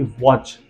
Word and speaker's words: watch: एक एग्जांपल के तौर पे जान लेते हैं, जैसे कि वॉच। ध्यान से देखिए, WATCH, इसमें टी का प्रोनाउंसिएशन नहीं किया गया है।